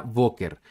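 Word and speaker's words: בוקר: boker está compuesta por la letra vet la letra cov y la letra resh y cuenta con las vocales o y e por eso se pronuncia voker y sería la traducción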